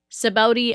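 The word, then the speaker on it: Sabaody: you guys can't spell that thing out like phonetically, okay? But it's okay because now I know how to say it. Sabaudi Archipelago, okay?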